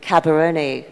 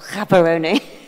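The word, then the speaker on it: Gaborone: uh uh places in in caberon hold on I've mispronounced that as well kaeron um so tell me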